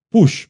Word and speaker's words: Puig: Nuestro querido amigo Push, porque es Push, ¿verdad? Así se pronuncia. Bienvenido, don. Gracias. Apellido catalán. Sí, es un apellido catalán.